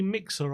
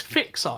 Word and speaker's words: Fixer: right let's get MC mixer on he's in the back end hey always my name wrong it's fixer it's a f f IX e r always always always mix